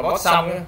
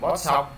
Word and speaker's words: Poisson: Cái chữ này tiếng Việt của mình đọc là bó xong, không biết ông thiên âm hay sao, nhưng mà thầy đọc mấy cái tài liệu mà thiên âm mình tiếng Việt đó, mình đọc là bót xong.